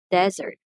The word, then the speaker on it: desert: for the verb so when we talk about the noun we say desert desert desert when we